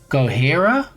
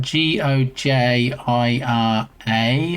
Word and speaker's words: Gojira: one anyway, they said is Gohira, spelled G O J I R A, I believe. But when they pronounced it, it sounded like they were saying Godzilla. That was that was unusual. I wonder if that's how they came up with the English word for it cuz that's because even though it was spelled Gojira, they actually pronounced it Godzilla.